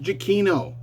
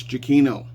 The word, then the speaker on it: Giacchino: just Michael Giacchino, and it is pronounced Giacchino to the Trek culture people. It's not Giacchino, it's not Giacchino or whatever it is. It's Giacchino. I have to say that. I will defend that. I will defend that pronunciation.